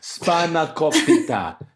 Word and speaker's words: spanakopita: It's pronounced spanakopita.